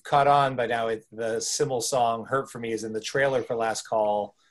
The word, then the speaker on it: SYML: You actually pronounced it correctly because people go like, smile, so wild. No, Simmel. Simmel. It's a Simmel.